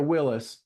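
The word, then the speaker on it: Willys: got one tell me is it a Willies or a Willis he says I've always called it Willies he just kind of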